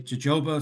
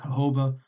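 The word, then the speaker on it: jojoba: a pronunciation um because some people will say Joba some people say hoba um you can read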